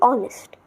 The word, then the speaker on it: honest: it's not honest it's honest honest is wrong no h only honest pronunciation is a bit weird but it will get